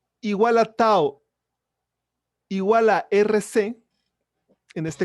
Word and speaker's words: tau: Es una letra griega y se pronuncia tau, la cual se utiliza para definir al producto R por C.